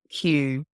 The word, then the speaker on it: Amazon Q: SP they spoke a little bit about like qly Q is the big theme is that how